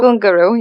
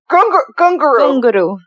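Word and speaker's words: Ghungroo: No, that's Gunguru. Oh, great. Gunguru, yeah. Gunguru. You got it.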